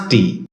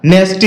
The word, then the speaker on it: nasty: নাস্টি এটাকে আমরা নেস্টি বলে থাকি যার সঠিক উচ্চারণ হচ্ছে নাস্টি শব্দটি বাক্যে নাউন হিসেবে